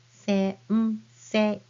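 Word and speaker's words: 先生: So teacher is sensei, and you pronounce it as sensei.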